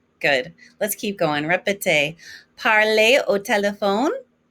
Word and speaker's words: parler: And remember that ER ending is an A sound. Again, it's regarder, parler, écouter.